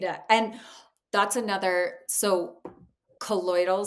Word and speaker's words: colloidal: And that's another so colloidal silver, am I saying it right? Yes, colloidal silver, exactly.